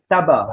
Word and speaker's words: tabac: Nah, cara membacanya Tabac sama dengan ini, Bergerac ya, Bergerac, Cyrano de Bergerac.